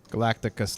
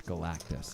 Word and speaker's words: Galactus: Galacticus leaves. That would be the destroyer of worlds. I think it's Galactus. Galactus? actually. I mispronounced it earlier, too.